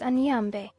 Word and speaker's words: Ane: for this God is Ane which when pronounced sounds to my ears like an linle the L's being very weak the derivation of this